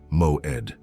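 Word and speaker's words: מועד: Pronounce it with me, moed.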